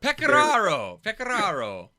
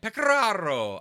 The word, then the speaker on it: Pecoraro: Picanara? Picanora? I don't know. Pecoraro. You got to roll the R, right? Pecoraro.